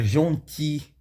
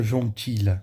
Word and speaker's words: gentil: l, seja fiz, seja jonti, sabe? Você não pronuncia o som do l, então não fica jontilha, que é o gentil, você fica jonti, tá?